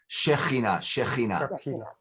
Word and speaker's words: Shekhinah: have seen the, similarity now, the concept of Shekinah. Am I pronouncing it correct? Shekinah, that it's a Shekhinah.